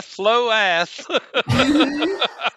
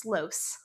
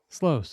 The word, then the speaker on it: Sloas: Uh it is pronounced Slows. Slows, okay. It's like Sloan.